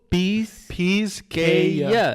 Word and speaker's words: Pisqueya: Oh, Pisqueya. Pisqueya. Pisqueya. Pisqueya. Yeah, Pisqueya. we're pronouncing it Yeah.